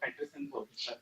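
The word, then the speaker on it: Petersen: So for Peterson we saw it is atmospher conjecture that it is atmospheric cubic. So the name is pronounced Burj and Peterson is also Peterson.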